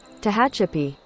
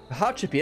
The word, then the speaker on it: Tehachapi: I said that so there you have it Tahachapi Trails let's actually see if I'm saying that correctly let's let's get Google to check my work here Tahachapi pronunciation okay let's see Tahachapi Tahachapi that's pretty close to hatcha to hatcha that's